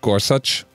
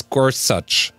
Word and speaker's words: Gorsuch: judge Gorsuch you remember they kept calling him Gorsuch and I I had I heard an interview with the guy where the interviewer asked him how is your name pronounced he said it's Gorsuch and everyone the BBC